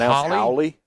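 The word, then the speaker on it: haole: It's Hioli. H A O L E. H A O L E. And it's pronounced. Howie.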